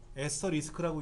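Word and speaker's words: asterisk: 에스터리스크라고 읽는데 대부분 다 별표라고 읽다 보니까 키보드도 별표처럼 그려진 것 같아요.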